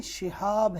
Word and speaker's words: شہاب: اس کا تلفظ یاد رکھیں، شہاب ہے یہ لفظ، شہاب، شین کے نیچے زیر ہے.